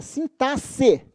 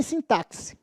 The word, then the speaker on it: sintaxe: dá olhadinha aqui ó esse x aqui não tem som de KS não é som de s é sintaxe sintaxe Tá então não